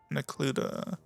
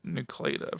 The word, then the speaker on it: Necluda: hen Villages these are with an area called necluda I always used to mispronounce that word as Nua for some reason um within that cluster you'll